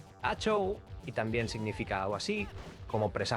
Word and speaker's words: Hachoo: mentre que el kanji a la pantalla de títol indica que està destinat a pronunciar-se "ha-chou" i també significa alguna cosa així com "presagi trencat".